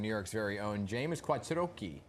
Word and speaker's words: Quattrochi: King, featuring New York's very own James Quattrochi. Did I say it right? There we go. In Italian, yes, you said it right.